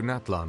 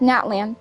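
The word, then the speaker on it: Natlan: soon be heading to naton I presume naton that's not how it's pronounced Natan I'm afraid that I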